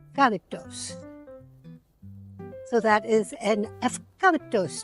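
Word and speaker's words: ευκάλυπτος: In Greece, the U is pronounced an F, so it's eucalyptos. Eucalyptos.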